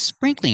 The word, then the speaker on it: sprinkling: Remember, 2 syllables. Spring, cling. It's sprinkling outside.